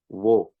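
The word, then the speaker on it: وہ: See this is our W, and this is our H, wo. Say wo, kind of like this, and wo means they. So vo or wo? Wo.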